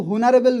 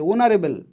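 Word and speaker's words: honorable: অনারেবেল উচ্চারণটা কিন্তু হনারেবেল নয়। অনারেবেল উচ্চারণটা হচ্ছে ও দিয়ে। ও দিয়ে উচ্চারণ হচ্ছে। ওনারেবল।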